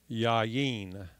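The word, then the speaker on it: יין: And that's Yud, Patak, and Yud, Hirik, and then a Nun Safit. And so that would be pronounced Yain, Yain.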